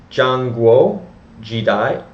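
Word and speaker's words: Zhanguo Shidai: So for some further background, the Warring States period, also known as Zhangguo Jidai, that's Z-H-A-N-G-U-O, next word, S-H-I-D-A-I, that's it in Pinyin.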